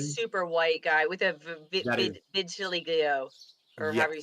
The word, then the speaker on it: vitiligo: Oh, it's the super white guy with a vitiligo, or however you say it. That's right. Okay. Gotcha. I remember that now. Can you please pronounce that for me? I don't know why. Vitiligo.